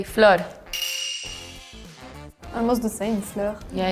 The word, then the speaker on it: flor: But the R is like an H sound. The Portuguese, flor.